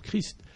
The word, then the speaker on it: Christ: le nom et enfin pour Christ et on prononce pas che mais on prononce CR donc tout cela fait